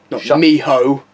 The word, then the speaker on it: mijo: I don't know but it's actually pronounced Mijo Miho shut up you hoe